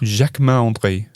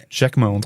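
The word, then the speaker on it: Jacquemart-André: Let's get the pronunciation right. Jacquemart. Jacquemart André. Jacquemart André.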